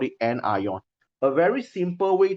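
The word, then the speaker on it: anion: have cat ion and N ion so this one pronounced as cat ion some people they read at Kon not Kon cat ion this one pronounce as n ion all right but if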